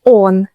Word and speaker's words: он: Он is stressed on the o, on. But in она, оно, они, the first O is unstressed, so it sounds like а.